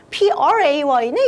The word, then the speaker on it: pray: PRAY네? 이번에는 prayed. 자, 그 PLAY인 play. 얘는 pray. 이렇게 발음하면 되고요.